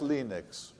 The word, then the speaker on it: Linux: this lilting European accent hello I am leanest Torvalds and I pronounced Dean XS Linux leanness eventually left Helsinki